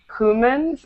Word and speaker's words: humans: Make sure you're not saying humans, it's humans. Humans.